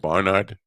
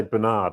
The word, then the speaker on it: Barnard: So we're linking to Barnard, right? Or how do you pronounce that? Barnard. Now that's a really interesting point. Is you say Bernard, and it's a real problem for me. That's an American thing.